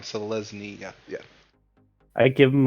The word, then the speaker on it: Selesnya: Selesnya.